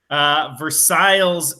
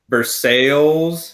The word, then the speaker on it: Versailles: so you are from Versailles is it Versailles or Versailles Versailles Versailles Indiana's Ripley high school but not how it's supposed to be pronounced but I guess we'll